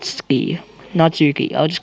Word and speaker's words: Natsuki: and not not turkey not Knox not Spee Natsuki I'll just call the nuts Natsuki that's really hard to pronounce made cupcakes and everything he don't make